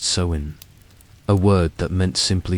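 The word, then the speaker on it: Samhain: In ancient Celtic lands, this time was called sewin, pronounced sewin, a word that meant simply summer's end.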